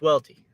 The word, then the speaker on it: Welty: out on the mixtape, I make it very clear how to pronounce my name. I say It's not, you know, it's not this, it's not this, it's not this. It's Welty. Because I've heard all kinds